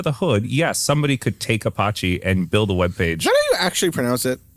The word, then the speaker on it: Apache: Like under the hood, somebody could take Apache and build a web page. Is that how you actually pronounce it? You sure it's not Apache? Apache. Apache, sure.